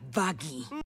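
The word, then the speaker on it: Vaggie: mejor nombre de todos de hecho se pronuncia bagi y perdió su ojo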